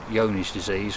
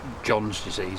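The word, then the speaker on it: Johne's disease: with our animals is something called yoni's disease or it's spelled John's disease if you see it in print it's a wasting disease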